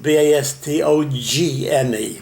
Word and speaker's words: Bastogne: I had a girlfriend there too, in Belgium, in Bastogne. Okay. And Bastogne is spelled B-A-S-T-O-G-N-E, Bastogne. You don't pronounce the G.